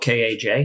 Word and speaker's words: Kaj: So they would say Kaj Munk or whatever, but it's spelled K-A-J. Oh, wow. So my parents always said Kaj.